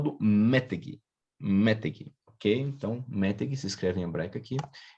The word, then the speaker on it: meteg: Então, a regra nossa no hebraico é justamente que a tonicidade está na última consoante, então não é metegi, né? É meteg.